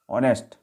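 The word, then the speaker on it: honest: Example भी देखते हैं इसके, हमने लिखे हुए, ऑनेस्ट मैन, एन, क्या साउंड हो रहा है ऑनेस्ट में, ऑनेस्ट नहीं है, ऑनेस्ट है, ओ का साउंड आ रहा है आ का, ठीक है।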